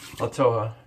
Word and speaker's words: Toja: Toja. Yeah, that's how you pronounce that.